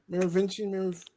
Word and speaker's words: Merovingian: In The Matrix Reloaded, Who does the Merovingian have imprisoned that Neo and the group want? Merovingian, yeah.